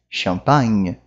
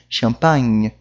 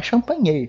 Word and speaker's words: champagne: Eu termino a minha pronúncia no, né, no nasalzinho aqui. Champagne. Não é champanhe, é champagne.